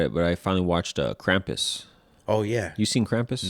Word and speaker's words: Krampus: Krampus. That's how they say it, because like it's German. Krampus.